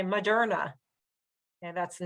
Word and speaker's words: Moderna: Okay, so we have "culture" with a U, but then look at this: Moderna, Moderna, Moderna. It's the same thing: uh, uh. We don't really say MOderna. We say Muhderna, and that's the name